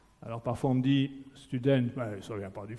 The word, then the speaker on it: student: Alors parfois on me dit, student, ça ne vient pas du flamand, ça, ou du néerlandais, ça vient de l'anglais. Ce n'est pas student, c'est student. C'est la prononciation néerlandophone.